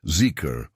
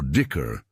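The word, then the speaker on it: dhikr: This is what Sufi practice calls dicker or dicker pronounced zikur or dicker.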